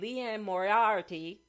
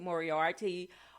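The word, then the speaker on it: Liane Moriarty: mosley james patterson john grisham harlan colbin and leanne moriarty i think i pronounced her name right moriarty are a few of my favorite mystery thriller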